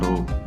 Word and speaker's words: rho: Yang keempat ada mass density, lambangnya seperti ini ya, atau dibacanya rho.